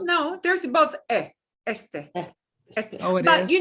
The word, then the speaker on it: este: So I had the short E and then the long A sound. So when a word Este. has 2 E's in it, you switch it out, a short and a long. Well, no, there's both este.